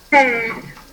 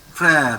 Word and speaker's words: frère: And this one, how to pronounce? Fair. Frère.